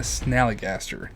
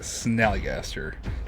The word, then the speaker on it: Snallygaster: And the Snallygaster. That's how you say it, Snallygaster.